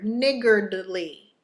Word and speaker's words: niggardly: the word is niggardly okay there's a D in there niggardly and it is an